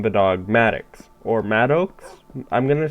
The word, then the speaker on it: Maddox: because I was thinking like madx Maddox Paradox I don't know it's so it's spelled it was spelled m a d d o x so this is Maddox but anyways we're geared